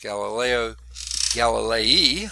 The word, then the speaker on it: Galileo Galilei: before the famous experiment by italian mathematician physicist galileo galilei okay i guess is how you say his